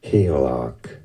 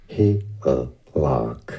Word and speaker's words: Hygelac: Pronunciation, character name from Beowulf, Hygelac, Hygelac.